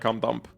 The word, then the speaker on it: Kim Dump: Yeah, the point is that it's pronounced like come dump. It's just that I think I automatically say it wrong because I like read it without doing the adjustment in my head.